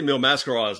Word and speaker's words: Mil Máscaras: I've pronounced Mill mallet well I say mil máscaras now because it's why I've heard it pronounced I think on some of the Houston tapes but for years I